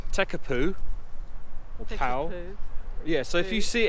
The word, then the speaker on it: Tekapo: word of the name TECA Pooh yeah so if you see in the way this opponent the mare is spelling it well actually they're pronouncing the P as a bee almost appears and it's almost